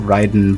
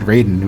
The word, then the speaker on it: Raiden: Well, like he probably expected me to pronounce it Ryden, but in Mortal Kombat, unlike in like everywhere else, you know, Metal Gear Rising, whatever, uh they pronounce it Raiden, which is just all right.